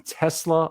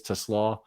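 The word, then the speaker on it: TeSlaa: Now it's they pronounce him Tesla a lot, but I think it really is Teslaw.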